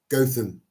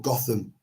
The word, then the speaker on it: Gotham: I went to a place called Gotham or Gotham. It's spelled the same as Gotham City out of uh Batman.